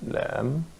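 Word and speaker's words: لام: This probably could be a regular rule for the Arabic alphabets, because here, the alphabet lam is written, and it's not pronounced la. It's pronounced as Lam.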